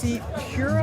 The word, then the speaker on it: MCPURA: I'm excited because he's going to give us a good first look at the new Mcpura. Am I pronouncing that correctly?